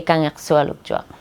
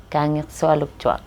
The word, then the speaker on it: Kangiqsualujjuaq: But one of the boys said, just say, can you swallow a truck? Like very fast, can you swallow a truck? So it's like Kangiqsualujjuaq. It almost sounds like, can you swallow a truck?